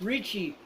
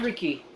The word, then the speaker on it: Richie: Yeah, it's Richie. Not Ricky.